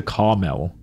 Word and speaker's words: caramel: damn who say caramel caramel do calm how do you okay I'm pretty sure it's Americans but like how does it turn into Carmel where's the second ago caramel no I say cargamel where did the G come from there's no G what back door abandon